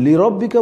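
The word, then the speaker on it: لربك: আমরা যখন লিরব্বিকা বলব তখন লাতে লিতে একটু চাপ দিব। আর প্রথম লিটা স্বাভাবিক থাকবে। একটু প্রেস করবেন একটু চাপ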